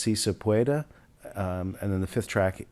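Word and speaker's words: Sí se puede: I think it's pronounced Si Se Puede.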